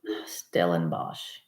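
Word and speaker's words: Stellenbosch: I'm not on anything but yes you did pronounce it Stellar stellen Bosch is in South South Africa correctly one of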